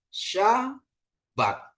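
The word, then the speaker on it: שבת: kata kita sudah temukan Sya bat ya Sabat hari ketujuh hari perhentian ya hari sybat ya sya bat ya Sin Betap bacanya syabat ya Bapak Ibu ya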